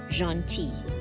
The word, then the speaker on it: gentil: The L is silent, gentil.